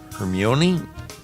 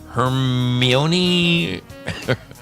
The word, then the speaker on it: Hermione: Is it C, and I know I'm going to butcher this name, Hermione Granger?